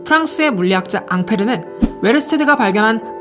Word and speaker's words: 앙페르: 이때부터 본격적으로 전류라는 용어가 사용되게 되고, 이 공로를 인정받아 훗날 전류를 지칭하는 단위를 앙페르의 영어식 발음인 암페어로 명명하게 되죠.